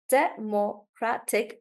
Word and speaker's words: democratic: syllables here so democracy Democratic the syllables are actually the same but when the word changes guys the stress comes here Democratic yeah and there's one